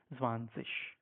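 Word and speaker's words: zwanzig: okay sometimes you say swanik or sometimes you say vanish at the moment you are in A1 so it's fine you can use them but however the right form is zanes so try to use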